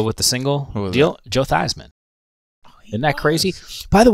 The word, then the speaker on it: Theismann: I guess that he they changed the pronunciation he recognizes it but it used to be feesman I don't remember that